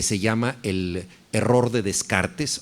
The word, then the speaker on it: Descartes: Hay un libro maravilloso de Antonio Damasio que se llama El error de Descartes o el error de Descartes, si lo pronunciamos correctamente, y este libro trata de lo siguiente.